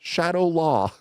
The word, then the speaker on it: Shadaloo: The leader of the Shadaloo organization, Shadaloo, by the way, Shadaloo, sometimes pronounced Shadaloo, sometimes pronounced Shadaloo, sometimes pronounced Shadow Law.